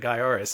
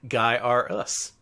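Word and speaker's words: Gaiares: number one he also set out to uh correct everyone's pronunciation about the game if you see his his shirt pronounced guy us guy us oh I've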